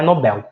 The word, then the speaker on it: Nobel: e o prêmio Nobel ou Nobel não lembro como fala certo não tem acento então é Nobel é o prêmio Nobel